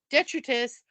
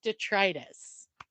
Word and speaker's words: detritus: water investigation otherwise called detrus but he also told me it's pronounced detritus I that is so